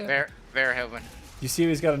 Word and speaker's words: Verhoeven: Director of RoboCop, Paul Vanderhoosen? Is that how you say it? Verhoeven.